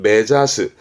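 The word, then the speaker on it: 目指す: 가는 방향을 가리키게 됩니다 발음은 메자스 원래 가리키다가 사스 가리키다 사스때 합쳐서 메자스 눈이 가리키는 거니까 목표로하다 지향하다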